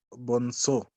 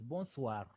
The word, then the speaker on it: bonsoir: Bonso. No, it is bonsoir. Bonsoir. SOR, we say soir.